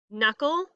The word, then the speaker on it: knuckle: So all of the words this week that sound like they start with an N, like knee, knock, knew, no, knuckle, all of those have a silent K at the front.